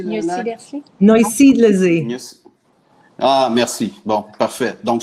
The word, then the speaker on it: Neusiedlersee: Tu me corriges, Véro, Nialsidlersi, qu'on va le prononcer, le lac? Neusiedlersee.